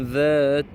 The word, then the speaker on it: ذات: Une petite remarque par rapport à ذل, c'est bien ذا, ce n'est pas za, ce n'est pas da, ce n'est pas data, ce n'est pas zata, ce n'est pas non plus sata.